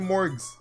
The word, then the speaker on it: Morgs: So from now on, I'm going to call you Morgs. M-O-R-G-S. With a hard G. Not a soft one.